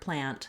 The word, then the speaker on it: plant: man plan plant but we often say the word plant without saying that sound at the end this is a typical pattern for American English speakers that we don't always say our T sounds we do Mark the T we make a stopped T here it sounds